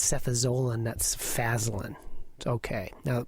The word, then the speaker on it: cefazolin: a George Bernard Shaw play, nor is it pronounced Canada, which is the country up north. And it's prostate, not prostrate, and it's cefazolin, that's Fazolin.